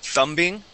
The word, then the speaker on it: thumbing: Okay, you would pronounce the B here. You had said thumbing. Okay, remember that we're talking about the thumb. Okay, and that's going to be silent.